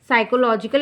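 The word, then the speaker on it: psychological: और तीसरा क्या है साइकोलॉजिकल या का सकते है ना साइको पीस में साइलेंट होता है लेकिन कहते क्या है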